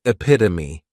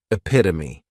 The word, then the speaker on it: epitome: Next is epitome, and this noun has 4 syllables, and the stress is on that second syllable, epitome.